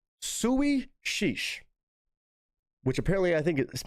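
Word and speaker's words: Suidh Sìos: Apparently, it's pronounced Sui Sheesh, which apparently I think it means sit down.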